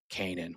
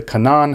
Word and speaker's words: Canaan: And how does the organization say it? Canaan. We know Canaan. How do Bible scholars say it? The cananan has been plundered.